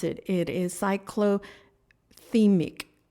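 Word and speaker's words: cyclothymic: I actually had to look up how to pronounce it it is cycl theic cyc theic um it um and what that means is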